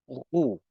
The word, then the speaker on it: roux: The first word is pronounced roux.